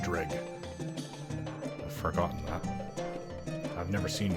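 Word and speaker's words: Dreugh: I realize Drew shields. Dreg shields. The name is confusing. It's actually pronounced Dreg.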